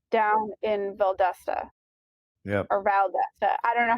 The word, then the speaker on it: Valdosta: or Valdesta. I don't know how they pronounce it. Valdosta, You got it right.